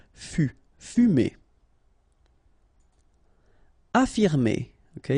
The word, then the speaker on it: affirmer: Affirmer. Okay, even if we've got two F, well, only one should be pronounced, so affirmer. Convenir.